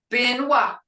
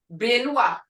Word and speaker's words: binwa: Binwa, binwa, as in spin. Muskogee B is an unaspirated, saying without the puff of air that English speakers add at the beginning of a stressed syllable. It therefore sounds to English speakers as it's almost halfway through between a P and a B. But if you say it, binwa, binwa, you can almost hear that P, but not as prominent.